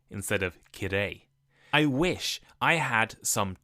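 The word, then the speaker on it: きれい: friends in Japanese, but instead of saying beautiful, my pronunciation made it sound like I hate it. I said kirai instead of kirei.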